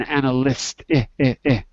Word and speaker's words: analyst: color to it because look analyze the color from our chart is white because White Lies analysist anal an analyst color is pink had pink pigs and we had white lions so I'm giving you the sound of the Y in both cases because that's the one that you have to remember okay thank you thank